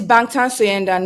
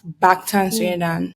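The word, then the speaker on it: 방탄소년단: No, it's Bangtan Soyendan, which is back, like not behind the streams. Bangtan Soyendan. Okay, I can't even pronounce that.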